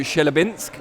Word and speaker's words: Chelyabinsk: It's the first time I've seen you guys since the big trip out to Chelyabinsk, and Yarde's...